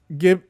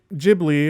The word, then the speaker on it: Ghibli: um okay uh so uh gib ghibli or ghibli is taken from italian and in italian it's g it's gay um but if you